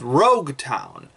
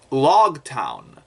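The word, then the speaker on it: Loguetown: comments informed me that it's actually pronounced log town and it's spelled like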